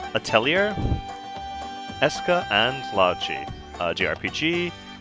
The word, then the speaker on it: Atelier: of my playthrough of ader or as it pronounced atellier Esa and logi uh